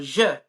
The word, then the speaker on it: zhi: our soul will, our je, or how do you pronounce it, Charlie? How do you spell that? ZHI. Yeah, so ZH sounds like j, like a J.